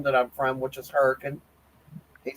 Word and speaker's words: Hurricane: It's if you was going to spell it the way I say it, it's Huracan. Hurricane. There is an A. There's an A in there.